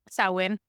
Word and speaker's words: Samhain: But anyway, the Celts felt that the ease of spiritual communication during this, how do you pronounce that again? Samhain.